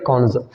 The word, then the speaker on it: connoisseur: Having a fine test in art, music और literature क्या हो जाएगा, कॉन्जर। तो ये वर्ड की स्पेलिंग आप तय कर लीजिए, CONNOISSEUR, ठीक है।